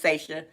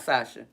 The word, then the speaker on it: Seisha: So shout out, and yet remember, if y'all say her name in the chat, her name is Seisha, not Sasha. Spelled the same way.